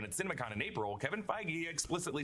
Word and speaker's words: Feige: It's You can see how I could have thought it was like pronounced differently. Fei. Feige. Kevin Feige.